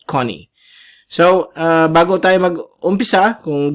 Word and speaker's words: Goni: But ang pronunciation po niyan is Connie. Okay, tandaan po ninyo yan. Hindi yan Goni ang pag-pronounce, but Connie.